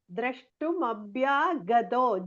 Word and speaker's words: द्रष्टुमभ्यागतो: Then you have to see nicely and correctly you must pronounce Drashtum Abhyagato.